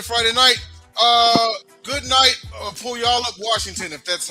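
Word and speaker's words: Puyallup: Pull y'all up Washington if that's how you pronounce it. Pwal. I say it's pull y'all up.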